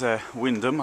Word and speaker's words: Wymondham: This is Wymondham, I think that's the pronunciation.